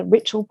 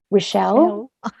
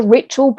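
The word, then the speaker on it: Richell: Lots of people love to say Rochelle, but it is their surname. And I even checked with Hannah on Twitter. Does it rhyme with Mitchell or Michelle? And she said Mitchell.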